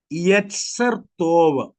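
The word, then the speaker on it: יצר טוב: मनुष्य को बनाते समय मनुष्य के अंदर ये दो चीजें, एक को कहते हैं यत्सर तोव, YET, ZER।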